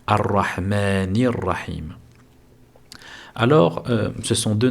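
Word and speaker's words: الرحمن الرحيم: Alors on va d'abord le le prononcer correctement. Arrahmanir. Arrahmanir. He ici nous avons une prolongation de deux temps naturel. Arahmanir et nous faisons la liaison arahmanirrahim.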